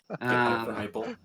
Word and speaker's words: Heupel: This week I saw a little article which Josh Heupel, I think is how you pronounce his last name. Heupel.